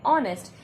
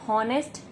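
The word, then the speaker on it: honest: देखिए यहाँ पे भी हम हॉनेस्ट स्पेल नहीं करेंगे, जो कि इंग्लिश ग्रामर के हिसाब से ही गलत है। तो ये भी ऑनेस्ट है और इसके हिसाब से यहाँ पे फिर से हेड साइलेंट है।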